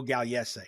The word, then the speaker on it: Gagliese: Joe Gagliese is how you pronounce it, though.